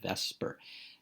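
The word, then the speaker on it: VSEPR: a molecule we use what's called the vesper model that's how we pronounce it vesper i'll always remember one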